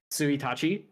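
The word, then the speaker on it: 一日: not it's even like if you're talking like the first second third of the month it's not like Ichi nii which is what you would expect it would be it's siachi which doesn't come from it's like its own you just have to know that word and then the second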